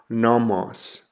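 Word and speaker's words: νόμος: The example I have there is the word for law or instruction and it's pronounced nomos.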